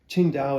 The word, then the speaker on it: Qingdao: Qingdao is the city, and we did a couple